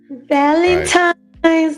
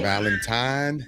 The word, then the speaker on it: Valentine: Valentine's Day. Yes. Spelled with an N as in November, not an M as Oh Lord. Who in is Mike. saying? Valentine, not Valentine.